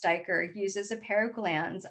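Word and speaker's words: duiker: diker a small antelope named pronounced dyker uses a pair of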